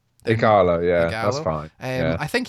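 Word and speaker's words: Ighalo: Igalo, yeah, that's fine.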